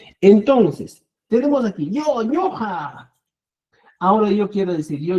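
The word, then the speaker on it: ñuqa: Yo normalmente, usualmente se dice como ñoja. Ya. Entonces tenemos aquí yo ñoja.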